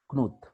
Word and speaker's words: Knuth: It is pronounced as Knuth.